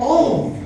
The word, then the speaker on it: of: a very short preposition of? We don't count the F in the of. When we were in the first grade, our subconscious was programmed that once you pronounce that is V.